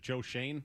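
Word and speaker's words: Schoen: Their GM, is it Joe Shane? Is that how you say it? Yeah.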